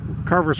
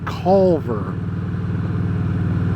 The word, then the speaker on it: Carver: Carver it's actually called Calver you know kind of like Culver's Restaurant which is a fast food chain so that's the way